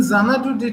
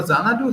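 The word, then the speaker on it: Xanadu: Dorado and others however zanadu has its own connotations look we write it with X but pronounce it with zed in between this X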